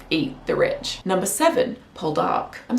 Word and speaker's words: Poldark: the rich number seven pull dark I'm saying like that because that's how they say his name in the show pulled up like emphasis on the second syllable but when you say